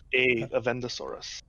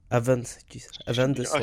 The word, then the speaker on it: Avendesora: Avendesaurus. Avendesora.